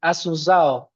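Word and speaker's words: Asunción: She is currently a lecturer in undergraduate philosophy programs at Assunção. Is it okay, the pronunciation? Kind of, it's okay. Could you, say Assunção? Assunção. Beautiful, but impossible to me, okay?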